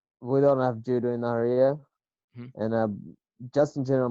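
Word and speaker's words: Nahariya: So when you were growing up in Nazariya, that's how you say it? No, Naharia, Naharia. Naharia.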